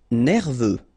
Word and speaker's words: nerveux: Nerveux. Final X not pronounced.